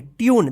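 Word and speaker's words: tune: ई इसको क्या पढ़ेंगे ट्यून देखिए यू उच्चारण हुआ है ना ट्यून ट्यून पढ़ेंगे टने मत पढ़िए टून मत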